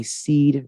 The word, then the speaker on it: PSEAD: I guide them through what I call my SEED method. And it's spelled PSEAD.